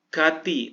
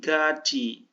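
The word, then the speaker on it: 같이: baru dasar banget ya Gati tapi gaci midadi midaji dibacanya ya dua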